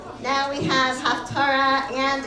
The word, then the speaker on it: Haftarah: The correct pronunciation of Haftarah is Haftarah. It is not Haftorah, which is the Sephardic pronunciation that we have adapted to since the creation of the state of Israel and the coming back of Hebrew as a living language. Haftarah was the Ashkenazi pronunciation that we no longer use.